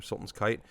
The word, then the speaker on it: Sultan's Kite: Sultan, like like a leader, Sultan, and then kite, like the thing you fly in the air. Sultan's Kite. I think that's how it's pronounced.